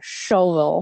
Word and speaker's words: Shelbyville: We're in a place called It's spelled Shelbyville, but apparently you're supposed to say shovel.